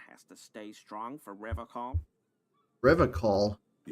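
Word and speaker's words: Revachol: Actually, it's pronounced Revacol.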